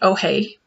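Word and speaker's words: Ojé: It's pronounced Oje, but that's how it's spelled. So O-J-E with an accent.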